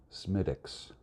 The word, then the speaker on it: Smithwick's: for my coffee here I was informed by an Irishman that Smithwick's Irish ale is pronounced semitic s' how would I know